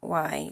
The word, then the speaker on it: Gwai: It's not spelled Gwhy. It's spelled Gwai. Gwhy. It means spirit or ghost.